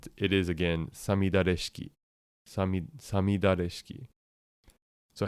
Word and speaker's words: 五月雨式: see this word would would probably try and pronounce it gatuki, but that but that's not in fact how it's pronounced. It's it is again sami sami dareski.